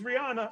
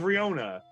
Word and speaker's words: Riona: It's like and Kyle's like, oh, it turns out, oh, it's Rihanna. It's Rihanna. Does he get your name wrong? It's Riona. The Riona of the Von Tavni.